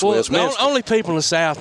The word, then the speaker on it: Westminster: It's not Westminster, it's Westminster.